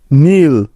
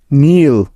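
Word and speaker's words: kneel: এন আই টি নিট নীল কে N double E এল নীল এখানেও প্রতিটি উদাহরণে এন এর আগে কে আছে তাই এগুলোতে কে সাইলেন্ট বা উজ্জ্ব আছে দেখো এল লেটারটি সাইলেন্ট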